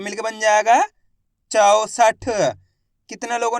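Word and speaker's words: चौसठ: 64 ऐसे नहीं पढ़ना है। 64 64 पढ़ दोगे तो ओ की मात्रा का उच्चारण निकल जाएगा। औ करके उच्चारण निकालना है।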